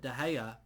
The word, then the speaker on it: De Gea: I think that De Gea is a player that, and that rhymes, De Gea rhymes with player.